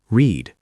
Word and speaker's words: read: Read, present, pronounced read. Long E. Shadow. I read books. Now pause and repeat read 4 times. Read, past, pronounced read. Short E. Shadow.